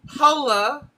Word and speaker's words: Hola: Hola. Ko estice. Don't put a Don't put a a ha in the h. We don't have our hes are completely silent.